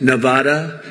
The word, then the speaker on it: Nevada: heard of it and don't ever mispronounce the name you're not allowed to do that you mispronounce the name you got a problem you ever see somebody when they say it's Nevada Nevada they're deep they in deep trouble i want to come